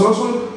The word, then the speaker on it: Ossotl: Pero nos gustó y al final de cuentas el TL no se pronuncia, es Ozul. Y el nombre es Ozul por eso, ¿no?